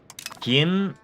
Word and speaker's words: Kim: Um, Gim, yeah, that being KIM, I I I totally agree with you there.